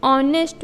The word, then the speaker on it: honest: H is consonant. ये vowel नहीं है, बस उसका साउंड वॉवेल जैसा है, यानी एस यहाँ पे साइलेंट है. इट्स a sound like ऑनेस्ट.